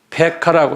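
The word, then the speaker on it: Pekah: 그 다음에 19번째는 페카라고 그래요.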